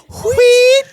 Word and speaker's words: Wheat: You know we were both going to pronounce that H. Sam Wheat, Sam Wheat, And Whoopi Goldberg as Oda Mae Brown, a.k.a.